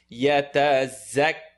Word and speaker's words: يتزكى: يتزكى. Excellent. Za is pronounced top and bottom teeth together. Keep it clear. Not a dhal, but يتزكى.